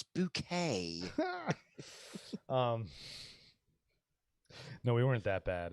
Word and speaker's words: Bucket: It's spelt bucket. It's not bucket. It's bouquet.